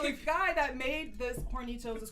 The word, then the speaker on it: Hornitos: You say it like, like Hispanically. Hornitos.